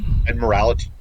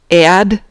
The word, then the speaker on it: Admiralty: Admiralty. Admiralty, not admiralty. There's not an extra syllable in there. It's Admiralty. I know, everybody says it Admiralty. It's not Admiralty!